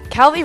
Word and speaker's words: Calvi: Calvi rhymes with Calvin.